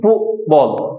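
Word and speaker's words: football: এখানে যে ফুটবলটা দেখতেছো এখানে টি টাকে আমরা স্টপ করে দিব ফু বল ফুব বল উচ্চারণটা হবে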